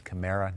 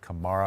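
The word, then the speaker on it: Kamara: in the nfl and i said his name wrong it's camara not camaro oh hundred dollar fine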